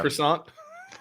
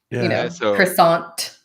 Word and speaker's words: croissant: at the end yeah croissant yeah by the way in French you don't you don't say this T at the end you just say yeah yeah so Jim croissant huh yeah no cha